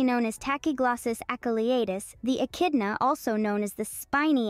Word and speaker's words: echidna: Pronounced as echidna, this creature is one of the only five